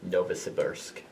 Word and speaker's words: Novosibirsk: Remember, you do not need to put the Novosibirsk city card under this card. Okay, so we just need to acquire target in Novosibirsk.